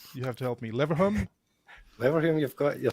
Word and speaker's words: Leverhulme: Oh my gosh, this one I don't know how to pronounce. You have to help me. Leverhulme?